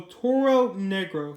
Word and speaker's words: Toro Negro: here's how oh oh try to pronounce this right Oh Toro Negro yeah that's how you pronounce it and he looks pretty